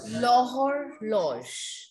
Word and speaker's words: l'horloge: Yes, H is silent. Correct. So it will be L apostrophe or lodge. Yes, L apostrophe or lodge. We will write H, but we are not going to pronounce it.